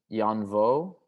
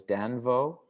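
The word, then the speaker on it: Danh Võ: The third chapter of the performance, I tell a story about the artist Jan Vo, sometimes mispronounced as Dan Vo.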